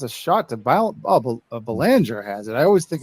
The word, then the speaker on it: Belanger: And it's a shot to Belanger has it. I always think it's going to be. I'm always trying to do the hockey pronunciation, but so they get out of that.